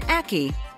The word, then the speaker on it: ackee: It rhymes with khaki. It's called an ackee, and it happens to be one of the deadliest fruits in the world.